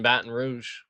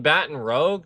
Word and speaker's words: Baton Rouge: Baton Rouge over here in Baton Rouge. You mean Baton Rogue? No, it's Baton Rouge.